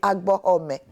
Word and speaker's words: Abomey: Je pars dans l'actuel Bénin, à Abomey, dont la vraie prononciation, m'a-t-on dit, est Agbohomey.